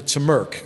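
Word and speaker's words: TMRC: Model Railroad Club uh the members called the turmer is the way they pronounce the acronym there and uh if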